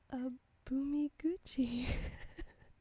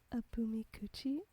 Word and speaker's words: Abumiguchi: The Abumiguchi. In the book it's spelled Abumikuchi. So that's why I called it Abumikuchi, when here it's Abumiguchi, actually.